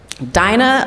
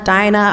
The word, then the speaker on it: Dinah: homeland thank you um dinah a lot of people they say dina dinah i'm like it rhymes with vagina i put the left